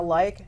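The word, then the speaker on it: Lyke: Lincoln good evening my name is like and that's like like Michigan likes like spelled with a Y though and Civ and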